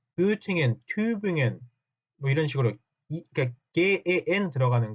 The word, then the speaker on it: Tübingen: 여러분들은 이제부터는 Göttingen 하지 마시고 발음도 정확하게 Göttingen 하고 읽어주시고 Tübingen, Göttingen 제발 그렇게 읽어주셨으면 좋겠습니다.